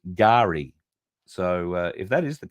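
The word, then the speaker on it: K'gari: its original indigenous name uh we did say kigari because it's spelled k apostrophe g-a-r-i but I'm reliably informed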